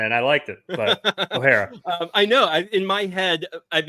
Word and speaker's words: O'Hara: It's O'Hara. It's O'Hara. You put a little twist on it, and I liked it, but O'Hara.